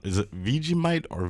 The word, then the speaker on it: Vegemite: So first one you're going to have to tell me if I pronounce it wrong. Is it Vegemite or Vegemite? Vegemite.